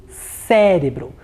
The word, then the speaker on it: cérebro: na próxima palavra cérebro cérebro mais um caso de vogal aberta então eu tenho acento agudo no é muito bem